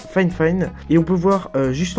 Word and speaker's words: Fifine: De la marque Fine Fine, bon ça s'écrit Fine Fine hein, mais ça se prononce Fine Fine, et on peut voir juste en dessous le casque qui ressemble à ça, qui est assez original.